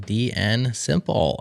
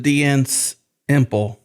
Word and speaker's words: DNSimple: Or is it DN Imple? Or or yes, it could be DNS imple. It's true. Oh, which one is it? No, it's DN Simple.